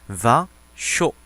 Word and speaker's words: vin chaud: 자, 우리말 표기를 할 때는 이상하게 이걸 자꾸 뱅쇼라고 쓰는데 프랑스어 발음상으로는 vin이 맞습니다. vin chaud 이렇게 쓰게 되죠.